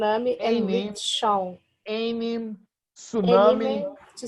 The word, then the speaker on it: tsunami: ami shown a meme tsunami - salami and rickshaw you don't pronounce the T in English as they always tsunamis